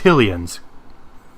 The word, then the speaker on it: Hylian: In the English language, in general, when the word ends in E, the vowels make a long sound.